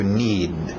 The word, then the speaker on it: need: To need.